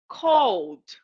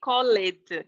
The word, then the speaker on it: called: called in the past called I don't say call it call it we don't pronounce the E okay and this is